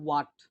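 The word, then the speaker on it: what: হ্যাঁ, প্রনাউন্সিয়েশন গুলো একটু দেখবেন যে আমরা যে সাধারণত বলি হোয়াট, হোয়াট বলি কিন্তু এটা কিন্তু হোয়াট না, এই উচ্চারণটা হবে ওয়াট, ওয়াট। হ্যাঁ, উ অন্তস্থ ওয়াইকার আ ট, ওয়াট।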